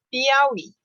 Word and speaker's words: Piauí: Tuiuiu, Piauí. Continuam com acento na última sílaba, porque elas são oxítonas.